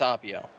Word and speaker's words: Appio: How do you pronounce that? Well, anyways, go ahead. It's Appio.